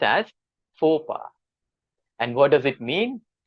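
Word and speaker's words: faux pas: me share the correct pronunciation this word is pronounced as PHA okay let me repeat this word is pronounced as PHA and what does it mean it means committing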